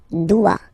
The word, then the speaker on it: dois: Okay, remember final S is not pronounced. Je dois. O-E, when you combine the two, you get the sound wa-wa-wa.